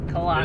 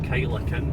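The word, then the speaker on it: Kyleakin: Killakin. It looks like Kylakin, but it's Killakin.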